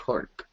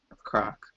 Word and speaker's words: Kork: Cork. Croc. Is it Cork or Croc? It's I need to look Cork. at the map. Cork. That's right. Cork, yeah. But it's spelled with a K, so Kork.